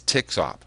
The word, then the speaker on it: TXOP: You'll see that written as TXOP, and some people actually pronounce it as TXOP.